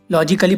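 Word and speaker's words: logically: अब इसमें देखो गाइस, डबल एल बाई से पहले ए आया हुआ है, ये साइलेंट है, लॉजिकली पढ़ेंगे इसे।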